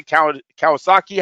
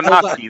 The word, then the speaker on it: Kownacki: Am I say Kawasaki? How do I say his name, you guys? Wait, Kownacki. There you go. There you go. Word is cow.